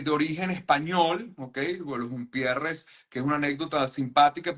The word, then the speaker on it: Humpierres: Bueno, Jumpierres, que es una anécdota simpática porque mi apellido se escribe con H en Venezuela, pero no es un apellido con H, Jumpierres es sin H.